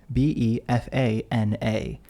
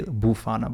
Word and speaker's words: Befana: b l a space b e f a n a yes it's a strange word because I want to say bufana but it's Befana I think some people